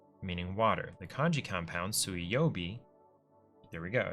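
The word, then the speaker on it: 水曜日: me understand something because the word for Wednesday is sui yobi um and it's written with the kanji for water which is normally pronounced Mizu um so sui yobi is water day but it's the on reading instead of the reading which this is an entirely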